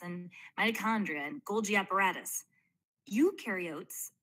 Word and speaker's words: eukaryote: Eukaryotes, the U rhymes with do, they do have membrane-bound organelles.